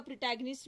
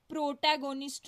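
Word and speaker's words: protagonist: उसके बाद Richard third है, ये इसी के नाम पे इसका प्रोटैगनिस्ट भी है, एंटैगनिस्ट भी है। प्रोटैगनिस्ट क्या होता है एक्चुअली? प्रोटैगोनिस्ट नहीं पढ़ना, प्रोटैगनिस्ट इज the right pronunciation.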